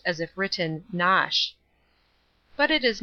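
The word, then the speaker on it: Knotacent: toss the seat of the Lord not dissent pronounced as if written nosh but it is not necessary to pronounce either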